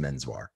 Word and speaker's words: Menswar: great scrabble yeah yes so he changed it to what it actually sounded like or how people attempted to pronounce it which was just menswhar so i loved your